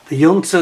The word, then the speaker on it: junta: junta, I should say, the correct pronunciation, pronounce it with a, as if it was a Y. The junta that took over in